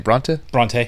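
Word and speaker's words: Brontë: Bronte.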